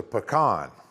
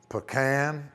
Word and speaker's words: pecan: Al Pearson, Pearson Farm, Fort Valley, Georgia: "The nut we grow is a puh-kahn . And some people say puh-kan , some people say pee-kan , and some say pee-kahn.